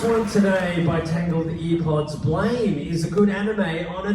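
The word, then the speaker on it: Blame!: is the last one today by tangled earpods blame is a good anime on its own thoughts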